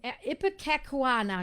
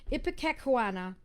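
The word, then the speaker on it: ipecacuanha: ipac so it's um ipa kakuana excuse me i've mispronounced it ipika kawana but ipatek for short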